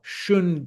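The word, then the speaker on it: xuan: This paper is called singleshun paper and single shun paper is uh spelled with an x. So it's x u a n uh shun paper is also suitable for beginners uh because it's really inexpensive.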